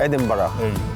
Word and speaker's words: Edinburgh: Do I say it right? Do I pronounce it Edinburgh. Right? Edinburgh. Perfect.